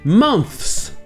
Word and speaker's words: months: À la base, la version officielle, c'est de prononcer les deux sons. Le son th et le son se à la suite. Le pluriel de month, ce serait donc months.